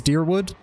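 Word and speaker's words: Dyrwood: worth it is dearwood like it's pronounced like an e almost okay there's a talent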